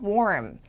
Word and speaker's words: warm: 또 R 발음을 받침을 제대로 주신 분들이 거의 없기 때문에 자, 나오는 단어들이 정해져 있다고 말씀드렸어서 잘 보세요.